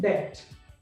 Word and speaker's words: debt: तो दो चीजें हैं आज, क्या कि ये अगर इसमें बी है तो बी का उच्चारण क्यों नहीं करते, और दो अगर ये उच्चारण करते हैं नहीं उसको तो उसे यहाँ पर रखा क्यों है, राइट।